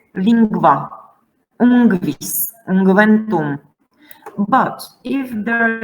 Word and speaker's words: lingua: Now this NGU is pronounced as NGV. Now let me show you. Sanguis, pinguis, lingua, ungvis, ungventum.